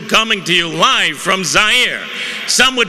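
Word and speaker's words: Zaire: how had coel coming to you live from zier some would pronounce it zir they're wrong it got big laughs and then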